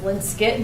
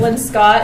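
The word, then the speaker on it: Linscott: And the Linskit is pronounced Linskit. No one really knows why.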